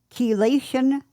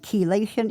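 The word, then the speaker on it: chelation: reduce your levels then your provider May prescribe kation therapy and kation is spelled c h e l a t i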